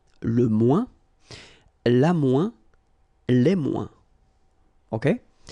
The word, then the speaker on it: moins: ouin, ouin, okay, and we don't pronounce this final S. Le moins, la moins, les moins.